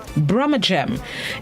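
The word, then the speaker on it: brummagem: gem brahma gem it's spelled b-r-u-m-m-a-g-e-m brahma-gem it's an adjective which means showy but inferior and worthless brahmagem it is an adjective and something of that kind and it comes from the local birmingham pronunciation the original spelling and pronunciation of the city is bir the non-standard dialect spelling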